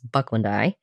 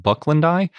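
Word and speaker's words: bucklandii: Yeah, it's interesting because I always hear it pronounced Bucklandi, but it's spelled like Bucklandi because there's two I's at the end.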